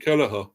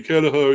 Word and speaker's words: Kelleher: His name is pronounced Queven. Oh, Queven. It's actually Irish for Kevin. Oh, right, yeah. So, Queven Kelleher.